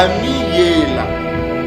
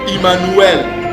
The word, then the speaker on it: Emmanuel: Donc on a Ami-Yela. Ami-Yela. ? C'est comme ça que ce mot se prononce. Ça ne se prononce pas Emmanuel. Non, ça c'est une fausse prononciation.